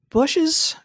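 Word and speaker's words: Bossche: yes you did is bushes is it bush or bosh gear vandenbosch yeah yeah zac says he pronounces it is bush's concern about just sounds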